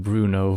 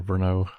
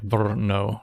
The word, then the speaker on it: Brno: One guy from US always said Bruno for Brno.